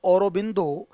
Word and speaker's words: Aurobindo: जो श्री औरोबिंदो हैं, इनको ये बंगाली प्रोनाउंसिएशन है श्री औरोबिंदो।